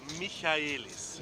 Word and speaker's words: Michaelis: I'm just getting a lesson in my pronunciation. It's Michaelis.